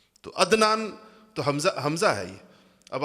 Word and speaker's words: عدنان: ہم تلفظ نہیں کرتے۔ مثلا میرا نام عدنان ہے، لیکن آپ میں سے کوئی بھی مجھے عدنان نہیں کہے گا، عدنان کہیں گے، حمزہ سے کہتے ہیں سارے کے سارے لوگ۔ تو عدنان تو حمزہ ہے یہ۔